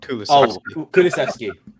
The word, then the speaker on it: Kulusevski: So in effect, what we've probably done is we've overpaid for how can I pronounce his name? Okay, Swedish forward. Kulusevski. Kulaszewski, yeah, Kulaszewski.